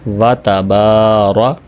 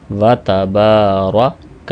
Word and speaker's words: وَتَبَارَكَ: جاتا ہے اکثر اوقات۔ تو صحیح تلفظ کا کیا ہوگا؟ وَتَبَارَ، وَتَّبَارَ نہیں ہوگا، وَتَبَارَكَ اسْمُكَ۔ یاد رکھیں، سین کی